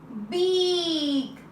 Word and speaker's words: beak: First vowel talks, second vowel is silent. Let's see one more example. Okay, now how we will read it? B, E, K, beak.